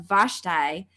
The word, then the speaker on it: Vashti: that I am team vashti vashti I always say it wrong what is it all right best tie - tie I am team Vashti she was the character